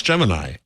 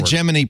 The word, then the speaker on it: Gemini: uh wrote about so which is it how do you pronounce pronounce Gemini first man a new film about Neil Armstrong has I'm saying it both ways oh wow I think in the geminy program back in the